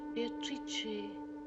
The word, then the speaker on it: Beatrice: It is pronounced Beatatrice in Italian which makes it very beautiful. Meeting Beatrice on the Ponte Veio.